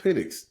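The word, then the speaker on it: Penix: take Washington I like pennick that kid can ball they better pronounce his name as pennic yeah they should they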